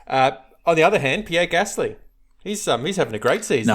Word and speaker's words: Gasly: On the other hand, Pierre Gasly, he's having a great season. No, you need to say his name properly. Pierre Gasly! Pierre Gasly, exceptionnel! Come on, that's very 2020 talk.